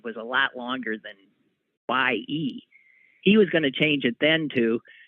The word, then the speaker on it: Ye: If your name is simply Ye, is that how it's pronounced? Y-E, Ye or Ye? Because that's who he is now. Kanye, I'm willing to bet. It's Ye.